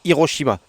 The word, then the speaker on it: Hiroshima: et cetera par contre les mots étrangers qui ont été catalanisés qui se prononcent à la Catalane ont une hache muette c'est le cas de Hiroshima oui j'ai peut-être un